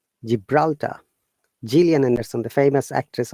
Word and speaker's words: Gibraltar: sounds so look at the g plus i made it giant gibraltar jillian anderson the famous